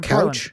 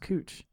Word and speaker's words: Couch: It's not couch? It's not couch. It's spelled couch, but it's pronounced Cooch.